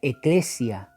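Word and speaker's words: ἐκκλησία: iglesia iglesia significa es la palabra griega que se pronuncia eclesia y significa un grupo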